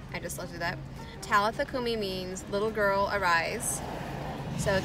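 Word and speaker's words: Talitha kumi: language that he was speaking it's intellithecom so talithakumi is that's how it's pronounced talifa kumi i just looked it up talithakumi means little girl arise so talitha is a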